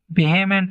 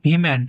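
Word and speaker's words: vehement: তো এই যে ওয়ার্ডটা আছে এটা কিন্তু ভেহেমেন্ট নয়, এটার উচ্চারণ হচ্ছে ভিমেন্ট, ভিমেন্ট, নট বেহেমেন্ট, ভিমেন্ট।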